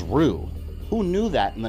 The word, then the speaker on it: Ryu: we know Ryu which technically the correct pronunciation name was rue who knew that in